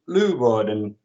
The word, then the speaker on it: Leeuwarden: another guest speaker, Mark Vijver from Medisch Centrum Leeuwarden from Holland.